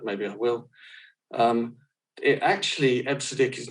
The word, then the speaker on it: EBCDIC: This one, I used to pronounce EBCDIC, but I'm told it's pronounced EBCDIC, or it was at the time.